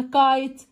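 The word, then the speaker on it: kite: تايم ولا سكاي ولا كايت؟ ها طيارة ورق كايت. ك ك حرف الكي. اي حرف الاي. ت والاي في اخر الكلمة ما نطقش صوته خالص ضحى بصوته.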